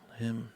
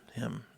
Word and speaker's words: hymn: do in an old hymn uh him hymnal him him yep that's how you say it so if